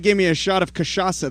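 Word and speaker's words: cachaça: me a shot of kashasa that's how you say it in portuguese and you'd be like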